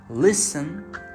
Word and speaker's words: listen: Now finally, when we do not pronounce T, of course that is called silent T. In words like listen, castle, hustle, and even moisten, we write T but never pronounce it.